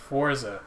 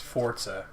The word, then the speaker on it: Forza: i think it's pronounced forza yeah but i'm not italian and coming from the guy who tells me i'm an idiot for pronouncing british words the way british people do i'm gonna say no i no cause forza is an italian word it means strength yeah in italian so you